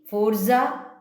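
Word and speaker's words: Sforza: എന്ന് പറയാവുന്ന ട്രേഡേഴ്സ് ആയിരുന്നു സഫോറ എസ്സിന് അവിടെ നിങ്ങൾ പ്രണ അവിടെ ഉച്ചാരണം കൊടുക്കണ്ട ഫോർസ എന്ന് പറഞ്ഞാൽ മതി ഫോർസദെൻ ഫാർമ എന്ന് പറയുന്ന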